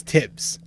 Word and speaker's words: Tibbs: So you pronounce the TH when you say his entire name, but when you fucking say his nickname, you just pronounce the T.